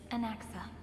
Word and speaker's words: Anaxa: She did say anaxa. My brain autocorrected that and I didn't read it as the spelling myos and anaxa.